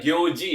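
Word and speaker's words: 行事: Cara bacanya itu adalah gyoji ya.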